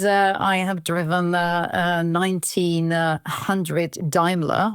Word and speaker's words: Daimler: I have driven 1900 Daimler or D ilar as the British say um the car belongs